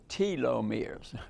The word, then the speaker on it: telomeres: we'll discuss it in detail and and it pronounced telomeres okay I'm trying to teach myself actually uh